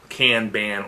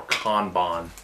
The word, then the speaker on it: Kanban: of lean manufacturing and Kanban or con bond depending on who you are and I pronunce it